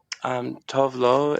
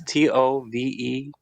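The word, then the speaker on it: Tove Lo: Tovlo is Tovelo. Tove. You said Tove. And then like new word Lo. Lo. I think that's how you say it.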